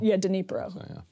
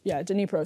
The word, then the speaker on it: Dnipro: How do you pronounce the name of the city, by the way? It's Dnipro? Dnipro. Dnipro.